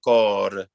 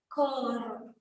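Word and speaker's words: core: So it's not co, but cor. Cor. Yes, but not rocor, but cor. Just a quick one. Cor. Yes, very good.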